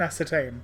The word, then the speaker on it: ascertain: yes there you are ascertain kurt cobain ascertain you know look i don't know why but it's like the thing that you know it rhymes that's the only it's it's the way to remember the the the i don't know it feels like a good way to remember how to say ascertain like just think of